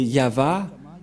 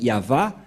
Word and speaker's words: Yahvah: Il s'agit donc de translittérations fausses que les catholiques romains ont fait, mais l'original c'est ceci, c'est Yahva, Ilshama, Yahva Shmo.